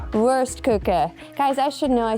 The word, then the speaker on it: Wurstküche: It's called, it's pronounced worstuka. Worst cooker. Worst cooker.